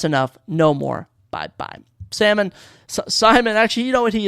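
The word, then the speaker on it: Saimon: m o n I found it was actually pronounced Simon I've been calling him salmon this entire time which I actually think is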